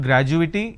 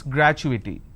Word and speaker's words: gratuity: confirmation technology accrual gratuity it's not graduating it's gratuity all right so when